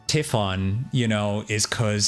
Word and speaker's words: Tiffan: I've been saying Typhoon. It's Tiffan.